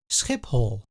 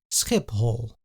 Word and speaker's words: Schiphol: The Dutch say Schiphol. please pay attention to the pronunciation. Here the P is followed by a H, but it is not pronounced as an F.